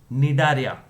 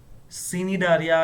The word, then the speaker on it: Cnidaria: Also called Nidaria. Cnidaria या Cnidaria नहीं, Nidaria. C is silent और यहाँ पे C is pronounced as saw.